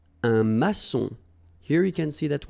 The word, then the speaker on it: maçon: Un maçon. Here you can see that we've got this little cédille beneath the C. Okay. And it just means that you will pronounce this C as S.